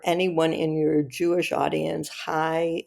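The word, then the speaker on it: חי: For anyone in your Jewish audience, Chai is a mystical word in Hebrew that means life or whatever. So, and it can be pronounced just High.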